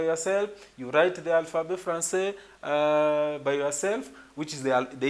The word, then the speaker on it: français: So after that, you also have to know the reason why it has to sound français and not francais and not franqué and not other thing, but